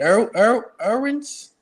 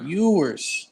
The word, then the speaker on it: Ewers: Is it Irwins? Yours Irwins? Ewers. when you, UEW. yeah, Ewers. Ewers is good.